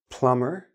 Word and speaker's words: plumber: example listen no T plumber no B Dum no B these